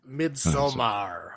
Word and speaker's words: Midsommar: Midsommar. Midsommar. Yes. Yeah. Say it like you're Swedish.